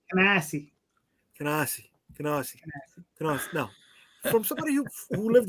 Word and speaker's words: Canarsie: You said it wrong. It's Canarsie. No. From somebody who lived there, it's Canarsie.